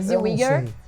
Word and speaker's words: Zellweger: Que fala a pronúncia perfeita, Zellweger.